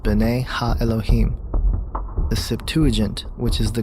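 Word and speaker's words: bene elohim: of god mentioned here in the hebrew is pronounced bane elohim the septuagint which is the greek translation of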